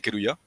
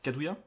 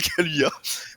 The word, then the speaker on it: Kaluuya: Comment ça se prononce exactement? Daniel Kaluuya, je crois. Kadouya? Ok. Kaluuya, c'est un L. Kaluya, ok, ouais.